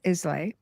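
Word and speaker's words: Islay: Um, on the aisle of Isla No. Probably didn't say it right because I I don't have the accent. Well, I is is pronounced. Okay, perfect. It's got a silent s.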